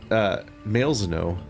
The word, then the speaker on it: Malzeno: I pronounced it both ways, now everyone can be mad. It's Malzeno. I can come up with more versions.